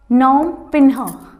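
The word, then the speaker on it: Phnom Penh: Cambodia, नोम पिन्हा, P silent रहेगा इसके अंदर।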